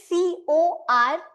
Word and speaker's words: corps: The pronunciation of this word, the OG pronunciation is CORE.